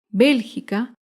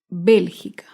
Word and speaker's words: Bélgica: Bélgica se acentúa en la antepenúltima sílaba. Bélgica.